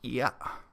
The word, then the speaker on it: Ear: His family name is spelled E-A-R. I assume it's pronounced Ia.